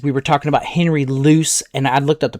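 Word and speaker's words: Luce: Remember in the 1940s and 50s we were talking about Henry loose and I looked up the pronunciation of this. It's no it's like juice. It's loose. Henry loose l u ce.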